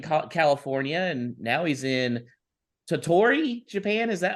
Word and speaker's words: Tottori: He's originally from East Bay in California, and now he's in Tottori, Japan. Is that how you say it? That's exactly right. Yeah, Tottori. I actually pronounced something right on the first time, guys.